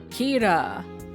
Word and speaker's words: Kira: Kira. I got it, like killer.